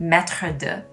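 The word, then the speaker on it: maître d': word maitre d in french which is actually pronounced metrodue master of what the phrase is actually missing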